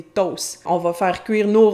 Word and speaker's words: toasts: des toasts ("des toasts", qui sont l'anglicisme "toasts", mais notez qu'on ne prononce ni le T ni le S, donc des ).